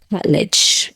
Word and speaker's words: Attar: This is by Attar. I believe that's how you pronounce the name. Attar, yes.